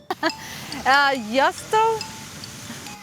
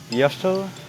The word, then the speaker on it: jostle: And the letter T is silent. We write it, but we don't pronounce it.